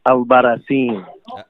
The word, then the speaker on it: Albarracin: Stan the Man here, Dennis the Menace Bermudez, and now we're joined by, how do you say it, Eric Albarracin? Captain Americas with an S. Eric Albarracin.